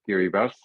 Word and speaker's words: Kiribati: You write Kiribati, but you pronounce it Kiribati.